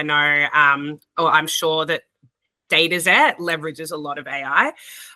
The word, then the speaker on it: Dataxet: And then Dataxet is how I pronounce Dataxet. Is that correct? We say Dataxet, but Dataxet.